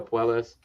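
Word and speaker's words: Puelles: versus uh claudio how do you say ben poelas yeah claudio puelas who you got in that fight ben i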